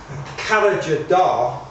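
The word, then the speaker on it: Karacadağ: at a place called kala ja da that's not the way that it's spelt that's the way that it's actually pronounced which is a mountain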